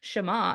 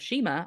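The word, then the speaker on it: Shema: my gist here this is this is the shama I learned to say correctly because I'd been pronouncing it with the Kentucky accent of Shima all my life then Adam corrected me um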